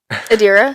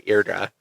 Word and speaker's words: Adira: Adira. Adira. I don't know why I say Irdra. Oh, Adira. Rowan.